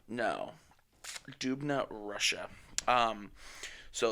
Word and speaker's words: Dubna: Nuclear Research in I don't know how to pronounce that. Dubai? No. Dubna, Russia.